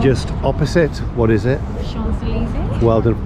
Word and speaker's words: Champs-Élysées: Champs-Élysées. Well done for pronouncing it correctly there.